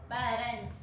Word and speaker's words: parents: with a S letter, but this S letter pronounced like yes only. So we can say parents. When we say parents, our vocal cord will not vibrate.